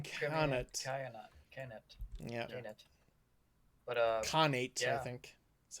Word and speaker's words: Khanate: But Khanate, I yeah. think. That's how it's pronounced.